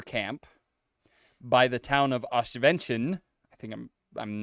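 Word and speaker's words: Oświęcim: The Nazis are building a labor camp by the town of Oswiecim. I think I'm not pronouncing that correctly.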